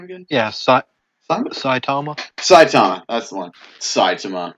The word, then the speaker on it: Saitama: basically or not no that's not how you pronounce his name one punch man what what's his name again yeah saitama saitama that's the one saitama bruh okay so